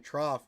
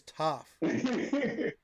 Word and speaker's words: Toff: I don't know why I keep saying Trough. There's no R. It's Toff. Michael Toff. My brain wants to read that there's an R there because it's such a weird last name. You have to pronounce it like a dictionary.